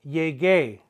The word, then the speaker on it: llegué: They're going to have a gay at the end with an accent on the E. We must maintain the hard G sound, the ga sound.